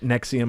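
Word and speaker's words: NXIVM: a word it's it's it's pronounced Nexium but it's all caps you ready NX I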